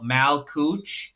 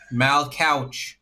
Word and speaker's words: Mal Couch: Mal mal coo. Yeah. I don't um no ma mal I think it's couch. Mal couch. Okay. I pronounced his last name wrong then.